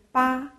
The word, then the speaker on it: 芭: This word read ba.